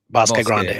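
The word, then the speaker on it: Bosque Grande: to the Bosque Grand How do you say that? Boss Grande, right? Boss Grande. Grande. Bos Grande. Okay.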